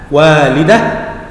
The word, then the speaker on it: والده: أن يهاتف، أيضا مد الألف، والده، هذه الكلمة تنتهي بهاء مربوطة، وأيضا الهاء المربوطة في نهاية كل كلمة تلفظ عند الوقف وعند الحركة هاء، والده، والده، وهذا التفريق بينها وبين التاء المربوطة.